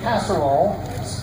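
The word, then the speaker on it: Casaroll: Eugene Casserole, pronounced just like what you make in a one-dish item.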